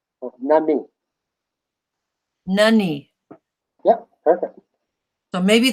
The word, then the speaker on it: nani: And when you spell it, it's Nani. But the I in our language sounds like an E. So Nani.